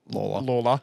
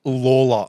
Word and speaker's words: Lalor: The hope is it's Sam Lawler. It's spelled Lalor. Yeah, that's why I said Laylaw. But it's Lawler.